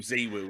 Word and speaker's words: ZywOo: just on that point tell alex to start calling z woo zee woo instead of zywoo because every time someone says which is how the french pronounce it and how he pronounces it they all do the